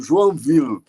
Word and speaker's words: Joinville: do nome da cidade Joinville que na pronúncia francesa é mais ou menos O Joan Ville que quer dizer duas